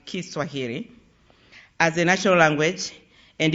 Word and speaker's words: Kiswahili: his nation to adopt Swahili, as Americans say it, but actually we should pronounce it Kiswahili, as a national language, and embraced the title Mwalimu, which means teacher, in Kiswahili.